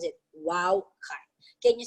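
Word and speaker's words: wau: like that and that is what they call wow kai okay so wings are similar to an arabic letter pronounced wow okay that is how they pronounce it wow can you say wow again wow kite okay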